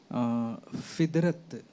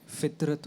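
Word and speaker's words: फ़ितरत: जैसे आपने कुछ शब्द बोले हैं, फिदरत, ये फिदरत नहीं फितरत होता है।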